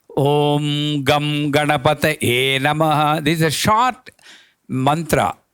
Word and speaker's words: Om Gam Ganapataye Namaha: To be correctly pronounced, Om Gam Ganapataye Namaha.